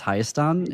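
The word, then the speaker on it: Հայաստան: found out that like we don't say Armenia in Armenian language, it's Hayastan is how you say Mhm.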